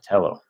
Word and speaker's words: Telo: Telo.